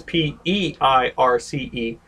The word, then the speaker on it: Peirce: Now his last name is P-E-I-R-C-E, but it's pronounced Peirce, and he was an early 20th